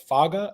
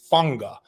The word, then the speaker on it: Fanga: Jimmy and I were saying Isaiah Faga. That is incorrect. It's Fanga, like Tua Tagovailoa.